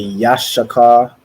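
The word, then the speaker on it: יששכר: let me see so in the Hebrew it would be Yash Shaka so it's say Yash and then Shaka which means he is hired and that symbol is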